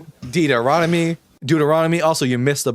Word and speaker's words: Deuteronomy: You see, you got Genesis, Exodus, uh, Leviticus, Deon, Montery, all of it. You know, wait, I can't pronounce the word. Deuteronomy, Deuteronomy.